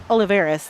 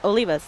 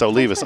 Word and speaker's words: Olivas: So that's when I tell people how to pronounce it, I'm like Olivus. Like oh leave us alone. That's it's easy. It's Olivus. O L I V A S. O leave us.